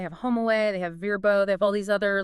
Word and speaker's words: Vrbo: It's now Verbbo, capital V, lowercase RBO. Right. And the official decree on pronunciation, it is verbbo.